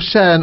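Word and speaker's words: Shion: How you spell that? It's Cheyenne, S-H-I-O-N.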